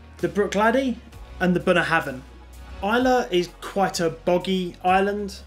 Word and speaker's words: Islay: regions of scotland isla spelt islay pronounced isla it's a small island